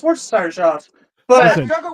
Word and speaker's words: Worcestershire: Hey, but it is entertaining to watch something say like, Oh, "Where's your sister sauce?" And you're like, pronounce it already off the rip. Yeah, okay, it's pronounced Worcestershire sauce.